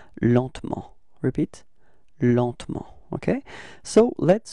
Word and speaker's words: lentement: And so the result we got is lentement, repeat, lentement, okay? And then, well, usually in France we don't really pronounce this E between T and M, so we get this pronunciation lentement, repeat, lentement, okay?